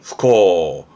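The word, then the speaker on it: 不孝: 발음은 후코.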